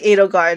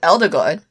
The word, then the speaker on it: Edelgard: I pronounce it Eldergard. Is it I thought it was Edelgard because when we first heard it, it sounded like anal. I think I pronounced it as Elderguard because they kept giving her the nickname L. Oh, okay, we'll go with Edelgard.